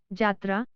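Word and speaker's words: যাত্রা: साथ ही यह भी ध्यान में रखना होगा कि जब यह पद के आदि में हो तो उसका उच्चारण ज होता है, जैसे यात्रा, जात्रा, योग, जोग।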